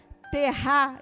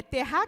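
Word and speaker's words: tevah: Estudiosos dizem que a palavra hebraica terá, eu não sei se é assim que se pronuncia, vou soletrar para vocês, T-E-V-A-H. É terá que se fala, Raquel?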